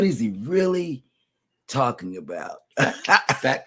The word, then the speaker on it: Phat: he really talking about fat cats and it and and it's and and it's spelled p a t oh pretty hot and